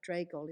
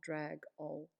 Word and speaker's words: Dregol: case you don't know dregol is pronounced dre gol and not drag ol it's a large island